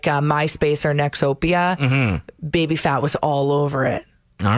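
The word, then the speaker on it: Baby Phat: Did you ever see baby fat clothing? I have no idea what you're talking okay, about. Okay, so it was baby fat, but it's spelled P-H-A-T.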